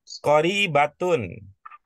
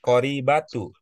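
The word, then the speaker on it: قريبة: kita lihat ya berikutnya qoribatun begitu tadi cara ibu membacanya kah qibatun I apa pertimbangannya dibaca qoribatun bukan Qorib batu S apa sih Eh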